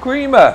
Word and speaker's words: crema: jalapeno and lime crema jalapeno cream and creamer is how you pronounce it let's go in on